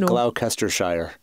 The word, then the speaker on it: Gloucestershire: I hate to correct you, I believe it's pronounced Gloucestershire.